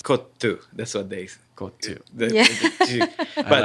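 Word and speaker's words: kottu: So very the way worried it about says mispronouncing. It's kotu.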